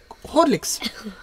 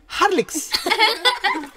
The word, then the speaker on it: Horlicks: you know, I mean, Kerala, we pronounce it Horlicks. Okay. And when I came here in Tamil Nadu, it was like some people, they were pronouncing it Harlicks. Okay, ha, it was like O extreme and A extreme.